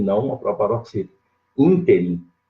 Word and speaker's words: ínterim: Ínterim, eu falei inteirinho, né? Nesse ínterim, proparoxítona.